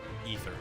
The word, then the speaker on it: aether: Oh, it's a aether current. Or an ether current, technically. I'm pretty sure the A is pronounced more like an E than an A.